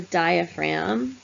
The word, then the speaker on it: diaphragm: and lungs called the diaphragm we don't pronounce the G that separates basically what's